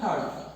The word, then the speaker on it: heard: তাহলে এজন্য ধারণা করার জন্য ইউ উইল হ্যাভ হার্ড, উচ্চারণটা খেয়াল রাখবো, এটা হচ্ছে হার্ড, অনেকে হিয়ার্ড বলে থাকে ভুলে, কিন্তু আসল উচ্চারণটা হচ্ছে হার্ড।